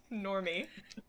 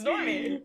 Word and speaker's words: Norman: cool so normal man it's pronounced normos normie no that's the psyche version it's norman oh god uh don't